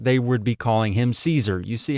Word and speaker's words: Caesar: For example, you know, with names like Caesar or Kaiser, if you were to pronounce that the way that the Romans would have said it at the time, they'd be saying Kaiser or Kazer or something like that. Caesar is a modern English pronunciation for you know the the Julius Caesar would be Julius Kaiser or something along those lines.